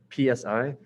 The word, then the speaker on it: psi: looking at oh side i was using is pronounced psy psi and that's the one that looks like this